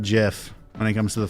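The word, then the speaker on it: GIF: we go oh my god no jiff is pronounced jiff when it comes to the file format because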